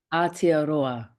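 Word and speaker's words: Aotearoa: If you want to share It's uh arta. Okay. It's the how New Zealand should be called. Arta.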